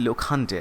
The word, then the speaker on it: Lokhande: So the pronunciation will be Lokhande actually, Lokhande.